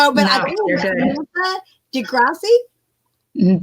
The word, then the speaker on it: DeGrasse: But I think Samantha DeGrasse. Don't pronounce the E. DeGrasse. Samantha DeGrasse.